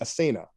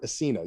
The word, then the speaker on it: Asena: Chinese and Persian sources as the asena uh or asena you'll hear it pronounced both ways a desert aristocracy renowned